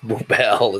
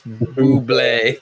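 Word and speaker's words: Bublé: I'm being corrected in the chat that it's not Boobel, it's Buble.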